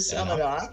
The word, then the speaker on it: Samhain: How do you pronounce that one? The Samhain.